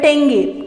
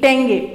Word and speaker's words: tenge: Kazakhstan का जो capital है वो है अस्ताना, और इसकी जो करेंसी है वो है टेंगे, TENGE, टेंगे।